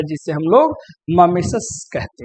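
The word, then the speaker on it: mimesis: तो सबसे पहला है, अब इसका प्रोनाउंसिएशन भी आप अच्छे से देखना, आप पढ़ेंगे मिमेसिस, माइमेसिस, लेकिन इसको पढ़ते हैं ममेसस, ममेशस, इसको ममेसस पढ़ा जाता है क्योंकि ग्रीक वर्ड है ये।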